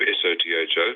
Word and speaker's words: Sotho: There were scattered clans on the periphery, including what became the Sotho tribe, S-O-T-H-O, pronounced Sotho, which is now Lesotho, the country, a landlocked kingdom, mountain kingdom in the middle of South Africa, independent.